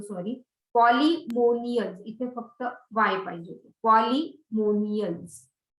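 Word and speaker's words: Polemoniales: तर ते मॅम ते पॉलिमॉनियल्स का पॉलिनॉमियल्स? पॉलिनॉमियल्स नाही, पॉलिमोनियल्स नॉट नॉमियल्स. पॉलिनॉमियल इज वेगळं आहे काहीतरी. पॉलिमोनियल्स नॉट नॉमियल्स. आय एम so sorry. पॉलिमोनियल्स इथे फक्त वाय पाहिजे.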